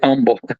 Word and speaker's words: humble: They're very humble about it. He said it bugged me a little bit because he would not pronounce the H. He would say humble.